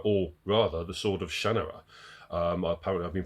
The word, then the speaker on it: Shannara: that is the 1977 classic, The Sword of Shannara, or rather, The Sword of Shannara. Apparently, I've been pronouncing it wrong all these years, by Terry Brooks.